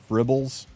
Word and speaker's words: Fribbles: If you do a quick Google search for TristenWulf Fribbles, spelled like dribble but with an F.